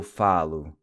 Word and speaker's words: falo: Notice how the O in Portuguese is pronounced with a U sound. So I finish would be eu termino. I speak, eu falo. I study, eu estudo. The O is pronounced U, as in nu.